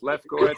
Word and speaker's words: Lefkowitz: It's Sara Spiker here, and today I have a special guest, a personal friend, Lefkowitz. Did I pronounce it strong or did I butcher your last name? Close enough. Lefkowitz.